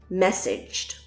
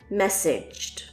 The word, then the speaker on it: messaged: is not pronounced messaged the a sound changes to an I sound and the G sound is like a D and J combined messaged repeat messaged he just messaged you